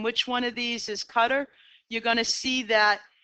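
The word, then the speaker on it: Qatar: butcher thurs 30,000 people cutter which is how you say qadar it's really said pronounced his cutter on this has an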